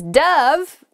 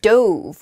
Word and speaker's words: dove: right next is dove dove can be a bird it's a white bird it often represents peace and it can also uh be pronounced dove which is the past tense of the verb to dive so you might say